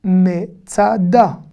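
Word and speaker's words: מצדה: Me, tsa, da. Ici, je suis obligé de prononcer le me. Regardez, me, tsuyan. Même avec le schwa, le e muet, en début de mot, on va le prononcer me.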